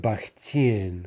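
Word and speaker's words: Бахтин: syllable putin right orlanian here we have baktin right the stress on the in okay so in all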